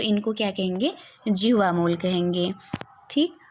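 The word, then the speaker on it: जिह्वामूलीय: तो इनको क्या कहेंगे, जिह्वा मूल कहेंगे, ठीक। तो इनको आप लोग ध्यान रखेंगे। और इसका उच्चारण आधे विसर्ग जैसा होता है या 4 के अक्षर के पहले आता है।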